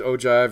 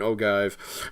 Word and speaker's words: ogive: what they call it i've heard it pronounced both ways ogive and ogive okay so i don't